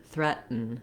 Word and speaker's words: threaten: I'm going to release right into the N, threaten, threaten. So I don't have much vowel before the N sound of threaten. It's called a syllabic N. The N sound itself is the full syllable, so it serves kind